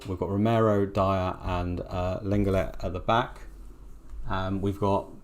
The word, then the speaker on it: Lenglet: I would say that Lenglet, I don't know how to say it properly, Lenglet, he was at Barcelona, French international. Longley.